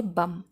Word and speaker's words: बम: यहां पर बीडीओ MB spelling में हम देख सकते हैं कि बी लास्ट में बी ए लेटर है लेकिन उसके पहले एम होने की वजह से हम इसको प्रोनाउंस नहीं करेंगे प्रनंसीएशन भी का यहां